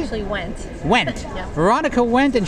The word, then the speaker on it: Wendt: Did I pronounce that right? Actually, Wendt.